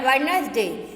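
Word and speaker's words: Wednesday: तो पहले वाक्य है वेडनेसडे, इसमें डी का उच्चारण नहीं किया जाता तो इसमें डी साइलेंट है।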